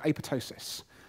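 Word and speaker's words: apoptosis: is a process called a pitocin that's a Greek words it's got a silent P which is a bit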